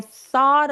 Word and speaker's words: thought: 그래서 I thought about calling her라고 해 주시면 되는데요 t 있죠? 저 t가 모험 사이에 깨어 있어요. 여기 보이는 GH는 묵음이에요. 아예 발음 압니다. 그냥 스펠링으로 보이는 것뿐이에요. 그래서 저 T가 모험 사이에